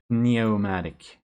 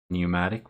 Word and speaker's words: pneumatic: that correctly I did neomatic it has a weird P that you don't pronounce pneumatic which makes it very